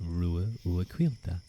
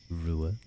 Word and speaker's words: Ruadh: pronunciation of of course my name is pronounced ruila ruila yeah I know he